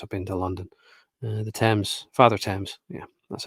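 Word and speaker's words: Thames: been e since I've been to London the Tams father Tams yeah that's how you say it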